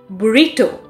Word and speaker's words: burrito: words are you ready burrito boo rito the second syllable receives stress here company here the first